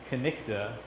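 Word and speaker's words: cniht: Our term knight, originally pronounced knikta in Old English, just simply means someone who serves.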